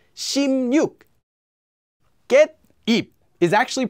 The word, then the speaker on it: 십육: 십육 is just pronounced as 십육.